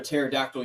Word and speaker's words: pterodactyl: Why can't you hear a pterodactyl using the bathroom? Why is that? Because the P is silent.